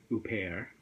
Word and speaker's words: Huppert: or wait a minute she's French so she probably pronounces it Isabel who pear yeah yeah something like